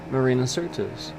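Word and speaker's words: Marina Sirtis: Marina Cert. Hold on. I always say it wrong. No, it is Certus. Marina Certus.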